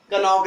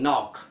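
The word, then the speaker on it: knock: जैसे कनॉक नहीं, नॉक।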